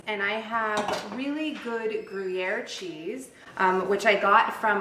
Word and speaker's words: Gruyère: her souffle with great gruyere which you want to pronounce the frenchiest way possible to get all the